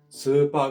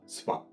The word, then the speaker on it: スーパー: えっと、例えば長音だったらスーパーがスパになったり、コーヒーがコーヒーになったりします。